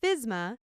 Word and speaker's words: FSMA: food safety modernization act commonly shortened to fsma and pronounced fisma is a federal law